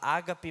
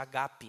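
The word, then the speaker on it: ἀγάπη: A gente fala ágape, mas o grego não tem acento na primeira palavra, na primeira sílaba, então seria agape.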